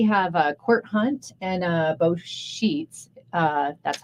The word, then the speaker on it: Scheuths: Sheets. Sheets. Actually, I think I spelled it wrong on here. It's SCHEUTHS, I believe. Boo Shoots. But it's pronounced Sheets.